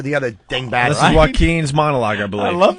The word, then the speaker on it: Joaquin: Oh, Joaquin. Oh. Anybody with a silent J in the beginning of their name Joaquin.